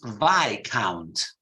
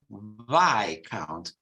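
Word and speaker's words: viscount: see visconte in Italian well in English both in British English and American English it's VI count VI count is so there is a silent s you see silent is Count or discount why count okay another uh did you understand this Pi count okay it's like this there's no rule take it as as they are another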